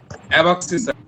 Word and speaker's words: abscissa: এটা একটা ORDINAT, ভোজার যে ইংলিশটা স্যার, বুঝেনটা অ্যাবাক্সিসা, অ্যাবাক্সিসা, অ্যাবাক্সিস।